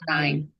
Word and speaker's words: paradigm: paradigm. Paradigm, 지 Paradigm, 발음 안 되죠.